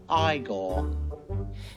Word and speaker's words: Igor: his hunchbacked sidekick Igor now it's pronounced igore Marty suffered from thyroid